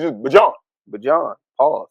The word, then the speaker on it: Bijan: It's not Bijan. It's Bijan.